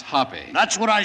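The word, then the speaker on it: Hoppe: billiard champion and uh it's pronounced hoppy that's what i said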